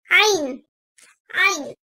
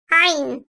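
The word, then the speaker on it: عين: Ayn, ayn. Boğazın ortasından, gırtlak bölgesinden hafifçe sıkılmasıyla çıkarılan ayn harfi, ince sesliyle kalın sesli arası bir tonda telaffuz edilir. Ayn.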